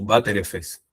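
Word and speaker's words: Btrfs: de datos y eh en inglés lo es lo suelen pronunciar como bater efes.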